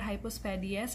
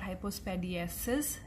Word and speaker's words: hypospadias: hypospadias formation now remember it is called hypospadias and not hypospadiesis as it is commonly mispronounced so this was about